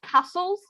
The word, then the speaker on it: castle: For example, it's the same when you talk about castles, for example. You know, the T, you don't pronounce the T, so it's castle.